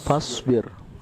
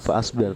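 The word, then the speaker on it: فاصبر: Kemudian contoh latihan ada fasbir, bukan fasbir tapi fasbir. Jadi alifnya hamzah wasalnya tidak terbaca.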